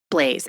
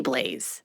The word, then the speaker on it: Blaise: Blaise. It's got to be Blaise.